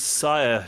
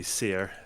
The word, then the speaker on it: Syr: tapped at the moment it is sire Ginger because you were the meal and uh but it could be sear if I'm pronouncing it correctly I suppose because it's old yelled English it was so Ginger